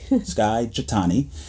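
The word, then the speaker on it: Skye Jethani: be walking through the book called with by Sky jatani I always make sure I say his name correctly Skye chatani um and it's a fantastic book and our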